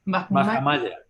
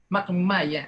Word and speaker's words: Mahamaya: Era hijo de Suddhara y dime cómo se pronuncia. Mahamaya. Mahamaya.